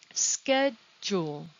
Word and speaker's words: schedule: in the same sentence schedule schedule how many syllables do you hear and where is the stress the odd thing about this word is that the s c h sounds like an s k ske also the d